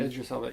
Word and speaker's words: Idris Elba: Idris Elba, yeah.